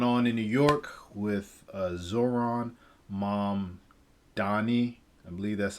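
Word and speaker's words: Zohran Mamdani: And then the last one is what's going on in New York with Zoran Mamdani. I believe that's how you pronounce his name.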